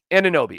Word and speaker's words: Anunoby: Anunoby.